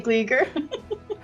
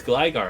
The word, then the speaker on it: Gligar: You say Gleeger? I used to say Gleeger all the time as a kid, and then I saw it was like, no, it's Gligar.